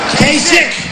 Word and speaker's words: Kasich: And so important is this, so important, Kasich cannot do the job. In fact, most people don't even know how to pronounce his name. Kasich, pretend it's a K.